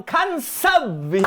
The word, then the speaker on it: Khanzab: Bagaimana cara melafalkannya? Hans, jadi huruf K-nya tidak diucapkan? Cukup pelan-pelan saja, seperti dengkuran. Oh, saya mengerti. Maksudnya itu apa ? Apa artinya? Khanzab ini.